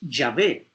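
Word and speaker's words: Yahvé: le añadieron las vocales se escribe jehová aunque la pronunciación en hebreo es llave pero en realidad ese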